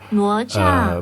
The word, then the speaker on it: 哪吒: It's this kit, the Neza Pro Sports Kit, and I think in Chinese that would be pronounced as Nezha, 哪吒， but my Chinese sucks.